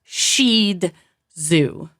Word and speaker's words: Shih Tzu: is not pronounced zoo it's pronounced shed zoo I like zooo better sh